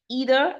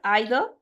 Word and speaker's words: either: can go ahead with both pronunciation both are correct either either both correct pronunciation one is American and one is the British pronunciation so both are correct